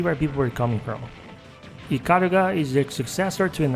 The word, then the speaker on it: Ikaruga: I can see where people were coming from iara is the successor to an arcade in Sega Saturn gem called radiant super gun and yeah as I said iara that's how it's pronounced he was developed by treasure which means